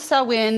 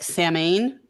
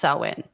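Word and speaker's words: Samhain: gonna talk about sowin and it is the pronounce Sal win it was for the Celts in the beginning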